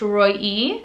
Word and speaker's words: Roee: have is roy now roy is kind of like roy in america but in israel it's pronounced roy e you can spell it